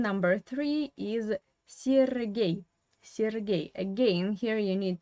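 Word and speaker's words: Сергей: Here you have two ye, but the first one is pronounced as I, sir, and the second one is pronounced as ye. Why? Of course, it is all about Russian stress. The first ye is an unstressed position without stress. That's why you pronounce it is this as I, Sergei, yeah?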